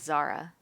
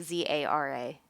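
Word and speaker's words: Zahra: So it's like Zara. Yeah, like Zara. Except the H is silent, basically.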